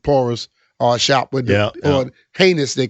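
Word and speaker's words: Ginés: Uh we went to the Churro and Porus uh shop with or heinus they call it G I N E S but they it's pronounced heinous.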